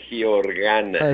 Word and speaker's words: Giorgana: El apellido es Georgana.